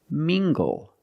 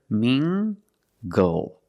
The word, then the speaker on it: mingle: very Tangled let's get this word mingle using the nasal sound and the hard good together Ming goal mingle mingle is a verb